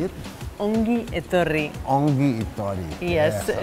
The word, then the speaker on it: Ongi etorri: Ongi etorri.